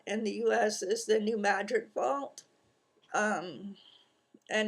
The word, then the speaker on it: New Madrid: people know about and the US is the New Madrid Vault um and it's not pronounced New Madrid it's New Madrid for some reason but um it's been due